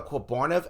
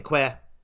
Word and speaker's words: Quebarniv: Yeah, so you'll always be saying Quebarniv. You won't be saying Que or Queb. You'll be saying Quebarniv. Yeah, so much like Jupiter. Jupiter and Quebarniv have the same amount of syllables.